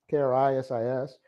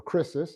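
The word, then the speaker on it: κρίσις: And descriptive genitive, it's a descriptive genitive singular of the feminine noun krisis, K-R-I-S-I-S, or krisis, depending on how you want to pronounce the iota or iota.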